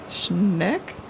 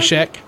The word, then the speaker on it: Scheck: Barry Schneck? How do you say that? Barry Scheck. Scheck? Yeah, that's right. Scheck.